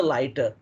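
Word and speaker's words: LiDAR: first and foremost is a lighter lighter that's how they pronounce it lighter light detector detection and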